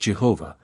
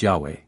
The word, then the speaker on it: Yahweh: them the tetrogram yhwh used to be pronounced Jehovah but now it is generally pronounced Yahweh it is a proper